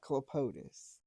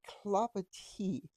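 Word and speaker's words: Clapotis: I can tell you, it's not Clopotis. This is the Clopati by Kate Gilbert, and it was all the rage in the early 2000s.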